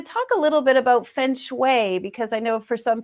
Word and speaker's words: feng shui: Well, it's been pronounced many ways, and thank you for pronouncing it correctly, feng shui.